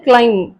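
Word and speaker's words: climb: Next வந்து எம்முக்கு பின்னாடி பி வந்தா நிறைய வேர்ட்ஸ்ல நம்ம வந்து அதை ப்ரொனவுன்ஸ் பண்றது இல்லை. For example கிளைம், க்ரம், கோம், PM, plumber, bomb, dome, hmm.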